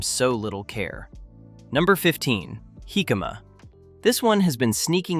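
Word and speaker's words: jícama: Jicama, pronounced "hee-ka-ma", is a large, round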